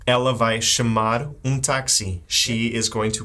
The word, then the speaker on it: táxi: Oh, táxi. Oh, I knew I was forgetting something. But we have a little accent there. That's true. Just to remind you to open up that A. Ela vai chamar táxi.